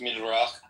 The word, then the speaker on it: Midrash: It's in the Midrash. It's in the Midrash, okay. But like, what's up with like black people being cursed? It's actually pronounced Midrach.